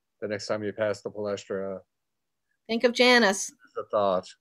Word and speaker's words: Palestra: How do you pronounce it? The Palestra?